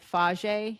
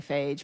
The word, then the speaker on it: Fage: I tend to do okay with the faj Yeah, I think that's how you say it. Faj yogurt. I say fage, but I think it's faj yogurt.